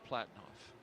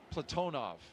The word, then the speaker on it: Platonov: Our crew today, commander Zena Cardman, pilot Michael Frink, Jaxa astronaut Kimmy Aayoui, and Ross Cosmos cosminaut Alleg Platinoff Platonov. I corrected my pronunciation yesterday and I slipped back into crew walkout has commenced on schedule.